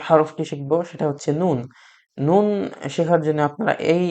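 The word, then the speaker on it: نون: নুন উচ্চারণ করার জন্য আপনাকে এত কিছু জানতে হবে না, জাস্ট সিম্পলি উচ্চারণ করবেন নুন। আমরা বাংলা ভাষায় লবণকে নুন বলে থাকি, সেইভাবে আপনারা উচ্চারণ করবেন নুন, নুন।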